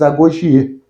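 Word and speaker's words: agoge: Só que lá, aquele exército, que também fica separado e que parecem os animais, eram os Agogie. E a pronúncia é Agogi, né? Mesma coisa.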